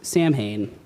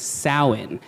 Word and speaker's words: Samhain: you can see it it looks like it would be pronounced Samhain but it is not it is pronounced Salin and it is a